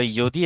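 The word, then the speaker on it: यदि: একটা হলো ইয়দি এবং একটা হলো তরি। উচ্চারণটা ইয়দি হবে, উচ্চারণটা হবে ইয় দি, কারণ জ্বর উচ্চারণ ইয়র মতো উচ্চারিত হয়।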